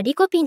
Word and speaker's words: リコペン: In Japanese pronounciation, lycopene is pronounced as 'likopen' or 'likopin', here we will pronounce it as 'likopen' in the JAS way.